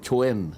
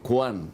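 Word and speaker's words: Quan: a Q u a n ano pero hindi kuhan ang pronunciation gan oo ang pronunciation Chwen Chwen ah Jing Chen Chen Jing Chen Chen ayun Jing Chen kaya your excellency ambassador Jing Chwen mo huwag mong sasabing kwan oo Jing Chwen Oo baka magalit.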